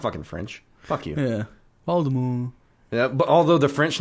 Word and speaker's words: Voldemort: to the point where she's like, "Oh, it's pronounced Voldemort."